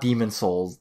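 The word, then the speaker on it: Demon's Souls: I bought I bought Demon Souls demons de it's there's an S at the end of demons but like it's really hard to pronounce the next word starts with s as well so um Demon Souls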